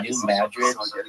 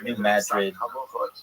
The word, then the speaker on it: New Madrid: of like uh what's New Madrid uh Missouri and if you're like why are you calling Madrid and not Madrid. It's not pronounced like Madrid like in Spain.